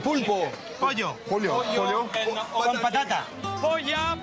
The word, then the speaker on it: pollo: Polla is cooked, no, no polla. It's penis. Pollo. Get the pronunciations right.